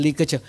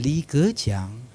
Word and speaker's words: Li Keqiang: So the Chinese, you will say, sir, this is how you pronounce Mr. Li Keqiang. Mr. Li Keqiang.